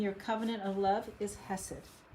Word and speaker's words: hesed: It's pronounced hesed like that.